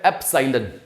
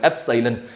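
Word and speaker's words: epsilon: symbol जो होता है इसे बोलते क्या है एप सालन मैं स्पेलिंग भी लिख लेता हूं ई पी एस आई एल ओ एन एप सालन और इसको बोलते एलन नाम मीनिंग क्या हो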